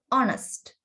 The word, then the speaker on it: honest: There is a consonant letter. Consonant letter එකක් තමයි තියෙන්නේ, H. But when we pronounce this word, we should say honest, not honest. Okay, honest.